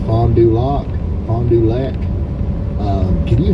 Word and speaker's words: Fond du Lac: Fond du Lac. You said it right. Fond du Lac.